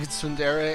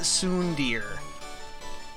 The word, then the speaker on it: tsundere: I know at least that it's not Soondir, which is like the naive English reading.